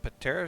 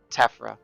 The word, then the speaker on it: Tephra: To Like clear I will stuff say, up, Is it Patera shells or Tephra shells? Sorry, Tephra. Okay.